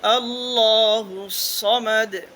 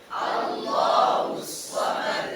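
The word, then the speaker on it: ٱللَّهُ ٱلصَّمَدُ: ওয়ালাইয়াকুললাহু কুফুয়ান আহাদ আল্লাহুস সামাদ আল্লাহুস সামাদ এটার ভুল যে নাকি সিন দিয়ে আল্লাহ একবার ভুল একবার ঠিক আল্লাহুস সামাদ আল্লাহুস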